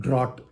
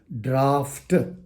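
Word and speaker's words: draught: t it is not drought it is draft there is f g h is pronounced as F draft it's the quantity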